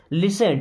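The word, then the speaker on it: listen: सोचो लिसन it carefully लिसन T silent है ना लिसन मीस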